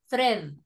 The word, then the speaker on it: thread: metal or good together remember it's thread not thread thread the letter a is silent thread mhm that's the